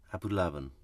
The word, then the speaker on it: Abulaban: it's Abu Abu Abul abulaban Ali abulaban abulaban that's it that's it that's it you got to put the the accent on the ooh we've just about got